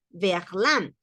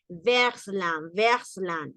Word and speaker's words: verlan: No, no podían poner versland. No, sonaba mejor verlan.